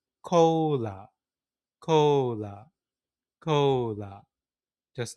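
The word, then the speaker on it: コーラ: So in pronunciation, it's called cola, cola, cola, just like that.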